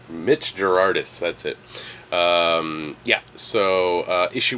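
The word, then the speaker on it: Gerads: Mitch Gerardis, that's it.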